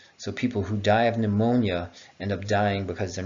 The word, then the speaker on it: pneumonia: pee in there anyways you don't pronounce the P is pronounced pneumonia pneumonia is a bacterial